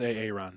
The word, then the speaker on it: Aaron: It's pronounced Aaron.